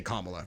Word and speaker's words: Kamala: like if I remember I call her comma because that is how her name is pronounced is it really kamla yeah oh if you listen to anyone who actually knows her they all say kamla which means that's her